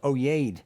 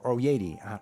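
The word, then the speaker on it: Oyaide: on Amazon they called oh yay or Yeti depending on how you want to pronounce that oh why a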